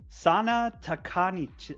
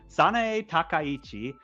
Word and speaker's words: Sanae Takaichi: Sana Takanichi, or Sanae can't even pronounce the name. Sanae Takaichi took Mhm.